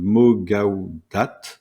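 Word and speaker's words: Mo Gawdat: faire ce cet épisode c'est une vidéo de mogaudat donc ça s'écrit Mo o plus loin G a W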